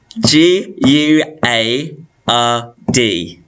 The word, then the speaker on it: guard: no it isn't whoops g u a r d very good so it doesn't sound like there's a u in there but there is g-u-a-r-d and for guide so